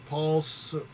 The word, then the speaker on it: Paul Sorvino: How does he pronounce his name? Paul Savino.